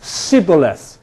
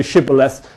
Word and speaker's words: shibboleth: And he would say, Sibboleth. Ha ha, you're not a Jew, you can't say shibboleth, and they'd be killed. This is from Milton, where many men were put to death for want of well pronouncing shibboleth.